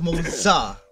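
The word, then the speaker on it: Moze: So it's pronounced Moza.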